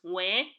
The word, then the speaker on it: Nw: The next Ụdaume is Nwe. It is pronounced as in the letters W-I, Nwe, in the English word wimpy.